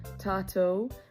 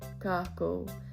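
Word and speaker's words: tātou: We can use the word for like us or we, tato, which can also be pronounced kako.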